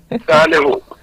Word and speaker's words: Saliu: mispronounced your name um is it Sally who or S Su please Sally who right thank you very